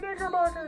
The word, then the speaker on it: Knickerbocker: a lot, but again, that's with a silent K, so whenever they would write it down, they would spell it wrong, which would make me laugh. So it's like, oh, you're a Knickerbocker.